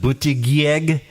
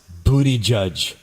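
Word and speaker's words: Buttigieg: It looks like booty g, but it's actually pronounced booty judge.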